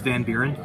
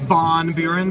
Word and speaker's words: Van Buren: It's Van Buren. Not Von Buren, but I'll take it. There needs more emphasis.